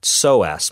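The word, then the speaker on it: psoas: of time is that soas muscle and soas is spelled PS OAS if you want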